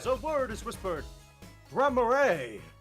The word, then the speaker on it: Gramarye: Local grammar and pronunciation Nazi, would you please weigh in? Oh, no, it is Gramarye.